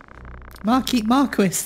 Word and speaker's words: Marquis: Marquis. That's pronounced Marquis. I'm pretty sure that is pronounced Marquis. Not Marquis.